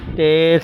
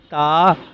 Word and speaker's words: تا: کے ساتھ پرہیز کریں، یعنی بے، تے، سے، ہے، کھے، توئیں، وائیں وغیرہ ہرگز نہ پڑھیں، بلکہ با، تا، سا، حا، خو، تو، ضواں پڑھیں۔ اب ان 29 حروف